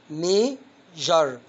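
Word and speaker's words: measure: عندك التركيبه اس يو ار اي بتيجي في نهاية الكلمة بتنطق جر.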